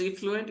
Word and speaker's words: effluent: Both sounds like the affluent, but what is effluent? If you pronounce it correctly, effluent, and other is affluent.